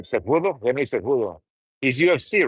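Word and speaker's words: Cejudo: Ronnie Coleman, you look like Henry Seudo, if I pronounce that right. Sudo.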